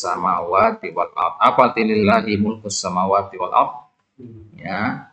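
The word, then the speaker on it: لله: Apa arti lillahi mulkus samawati wal ardh? Ya, milik Allah. Ya, kekuasaan langit dan bumi. Jadi lam yang ada pada kata lillah, ini bacanya lillah ya. Kalau ada alifnya itu bacanya Allah.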